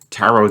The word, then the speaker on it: tarot: Tarot, Debut, Ballet, and Rapport. These are words ending with a silent T.